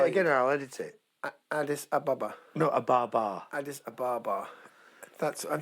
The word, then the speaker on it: Addis Ababa: Addis Ababa. Addis Ababa, it's pronounced.